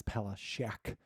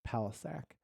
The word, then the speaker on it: Palisac: Anyway, the first day of class, my teacher said my name as Palashak, and I said, "Oh, it's pronounced Palisac," and she was like, "No, " and that's a good like.